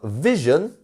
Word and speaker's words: vision: Number 28, we have vision. Vision. And we have the I-O-N, which isn't eon, it's yun. Yun. Vision. Vision. And our stressed syllable is our first one. So vision, not vision.